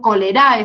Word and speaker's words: cholerae: vibrión colérico o vibrio cholerae se escribe o se escribe solera y se pronuncia cholerae que es el productor